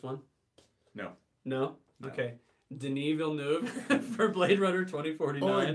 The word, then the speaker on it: Denis Villeneuve: Denis Villeneuve for Blade Runner 2049. Or Dennis Villeneuve. That's how I pronounced it the first time I ever did it.